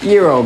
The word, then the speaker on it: gyro: Often served with pita bread, the G is not pronounced at all. So if you've been doing that, you can lay down that burden. Good news. Gyro guy's back.